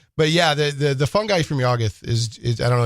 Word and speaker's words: Yuggoth: So H.P. Lovecraft originally pronounced it as Yuggoth. Yuggoth. Yeah, to where it almost rhymed with Pluto. Okay. And there's one of the stories, it's, I think, Shadow Out of Time. Right. That you hear Yuggoth, and he mentions that it sounds very close to Pluto. So that's how we know that's how to pronounce it.